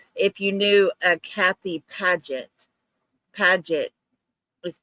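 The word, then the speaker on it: Padget: Uh Padet, I think that's how it's pronounced. P A D G E T. Yes. Last night in chat, we asked everybody if you knew a Kathy Padet.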